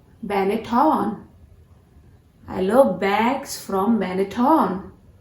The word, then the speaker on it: Benetton: Benetton. What? You guys have been pronouncing this brand as Benetton, right? But you were wrong. This brand has to be pronounced as Benetton. Benetton.